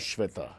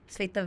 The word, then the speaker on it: Svetha: Oh, it's a Svetha Svetha. and not Shweta. Svetha. Okay. Svetha. Yeah, My dad wanted to be like, That's the Telugu pronunciation thingy of But it.